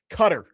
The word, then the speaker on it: Qatar: way it's pronounced. Qatar.